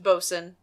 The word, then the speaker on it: Bolton: we're looking at and it's pronounced boson that's true you are right you um you are correct I am Crossing off giving John Bolton another job but even though I knew it wasn't notable how do we know he's not a boson we don't know that's what